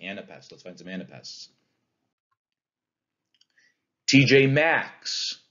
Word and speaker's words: TJ Maxx: TJ Maxx. Do you hear how that's an anapest? It's two unstressed syllables. TJ, and then the stressed syllable. Max. TJ Maxx. TJ Maxx. Anapest.